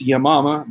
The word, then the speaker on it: Yamama: a hard time saying yeah mama because it sounds like yo mama but it's yamama battle of yamama uh